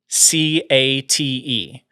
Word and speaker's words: Hecate: of the Logan Nunnery, Hecata, or Hecate, I think is how you pronounce it. how do you spell this? Okay, the first pronouncing is Hecate.